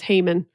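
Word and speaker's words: Haman: with him who now I was always taught that his name was Heyman Heyman that's probably some good oldfashioned very American pronunciation there's a hey guy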